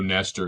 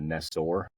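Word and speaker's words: Nestor: Pablo, you just know Nester is just gonna, you know, wreak some havoc. Make sure it's not Neestor.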